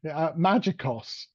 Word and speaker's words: Magikos: Magikos, as in magic, trying to take the black magic out of IT.